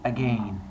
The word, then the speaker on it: again: that last word again there's a reason I pronounce it as a g and it's not because I'm fancy or British Wednesday when I teach you guys rhyme scheme that's why I going to show you the that you have to pronounce those the same as Lane and again and so that'll be